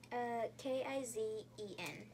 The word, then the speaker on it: Kizen: How do you spell it? K-I-Z-E-N.